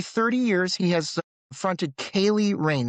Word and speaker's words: Ceili: For nearly 30 years, he has fronted Kaye Rain, that's pronounced Kaye, Celtic rock band built